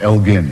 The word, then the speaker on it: Elgin: sculpture of the pathon sometimes called the Elgen marbles always pronounced wrongly in this country it was Lord Elgin in fact hard G that they had annexed